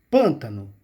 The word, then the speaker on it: pântano: Eu vou dizer para vocês, é pan, ó, pântano.